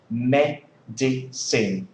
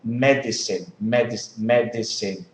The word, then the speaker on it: medicine: it's like for example you say medicine medicine medicine and a words with three work with three sea levels can be simplified into two syllables and that's normal okay